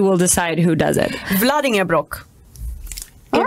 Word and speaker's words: Vlaardingerbroek: I've never heard my name butchered like that before. Right. I mean, Vlaardingerbroek.